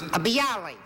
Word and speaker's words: bialy: Thank You number two what is a B Ali is that the way you pronounce bialys yeah see Ali originated in a place called